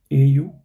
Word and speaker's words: au: So how do you say Au? So you can, if you know how to say cow or now, so just say the Au part of these words, right?